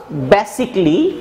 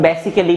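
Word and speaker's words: basically: লেখার পরে হি ওয়াজ বেসিকলি, বলছে বেসিকলি, আমরা অনেকে এটার উচ্চারণ বেসিক্যালি বলে থাকি, আসলে ওটা ভুল প্রোনাউন্সিয়েশন।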